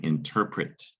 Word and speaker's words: interpret: starts with n also there's ter in the middle our controlled vowel sound tur not to be confused with tre tur tre tur there's terp terp go terps and pret pret not pert but prett this is the word interpret it's a verb you